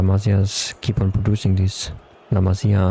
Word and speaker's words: La Masia: And uh La Masia's keep on producing these La Masia, I think it's pronounced.